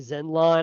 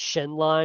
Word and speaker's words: Shenlong: I've been saying Zenlon. I'm pretty sure it's Shenlon because it's an Shenlong.